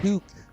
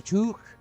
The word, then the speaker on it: toque: Here in Canada, we call it a toque. It's a toque. Tot u q u e I think it's spelled tobogen.